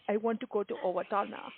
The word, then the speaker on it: Owatonna: I want to go to Owatonna. And I'm impressed that you're saying it correctly.